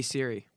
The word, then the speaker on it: Siri: always refer CH voice Siri settings Siri settings that just got we got that that series I tried to escape it that's Siri and that's how you say it Siri not Siri you know what this